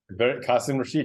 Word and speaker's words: Qasim Rashid: His name is Qasim Rashid. Am I pronouncing that correctly? Qasim Rashid, you nailed it.